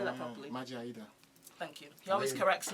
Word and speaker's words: Maje Ayida: And she was married to a man called Maje Ayida. Did I say that properly? Maje Ayida. Thank you. He always corrects me when I don't pronounce names properly.